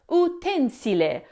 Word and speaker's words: utensile: But when it works as an adjective, meaning serving a practical use, like a tool used in a factory, it's pronounced utensile, following the Latin utensilum.